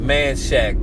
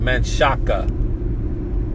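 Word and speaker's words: Manchaca: Like some people don't know how to pronounce Manshack. We call I've always called it manshack but some people call it manshaka or manshaka you know but uh I've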